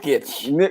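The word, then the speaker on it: Jokić: Jokic.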